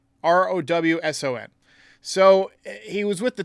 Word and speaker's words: Rowson: But first, Yankees have hired a hitting coach, James Rosen? Hang on, I think I pronounced his name wrong. Yankees hire hitting coach. Hang on just a second. James Rowson, Rowson.